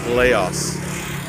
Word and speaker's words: Lao: came over here and decided to pronounce it phonetically as they saw it which is Laos they called the country Laos which is what Americans think this country is